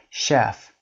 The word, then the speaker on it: chef: 6 machine rule the letters CH are occasionally sh for example machine, chef, cliché or k for example chemistry, architect but almost always ch.